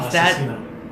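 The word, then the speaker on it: Asesino: So, speaking about your side projects, ASSESINO, is ASSESINO. That's the correct pronunciation?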